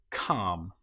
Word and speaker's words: calm: In this case, the L, you will notice, is not pronounced at all. Palm or calm.